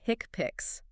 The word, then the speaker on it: HCPCS: level two and modifiers often pronounced hick pics hick pics okay these are essential